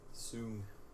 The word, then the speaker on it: Soong: Soong. S-O-O-N-G. Yeah, but Noonian doesn't really rhyme with often wrong.